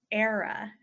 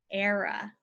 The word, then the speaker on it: era: medieval times the next one is similar its era era an era is a extended period of time